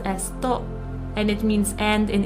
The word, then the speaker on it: と: Particle to. This is a connecting particle. It's pronounced as to and it means and in English.